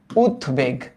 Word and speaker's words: উদ্বেগ: একচুি এটার উচ্চারণটা আসবে এরকম উদ্বেগ শব্দটা এরকম তো তোমরা বলতে পারো ভাই এটা উদ্বেগ হবে না কেন কারণ এইটা উৎ উপসর্গযুক্ত গঠিত শব্দ উদবেগ এই কারণে এটার উচ্চারণটা এমনই আসবে উদবেগ এরকম আরেকটা আসতে পারে